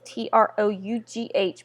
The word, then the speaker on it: trough: Now the trough, and that is t r o u g h, but it's pronounced t r o u f trough.